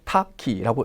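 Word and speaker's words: 多岐: 단어 어떻게 읽습니까 그렇죠 다기 아고 적어서 음독으로 타기라고 읽어 주시면 되고요 뜻은 여러 갈래 여러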